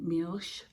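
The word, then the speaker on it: Milch: written there in German Mich is how you pronounce it in German and then this Farm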